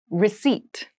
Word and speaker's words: receipt: Receipt. Receipt. Receipt. Receipt has a very interesting spelling. There is a P in the spelling of this word, but we do not pronounce it.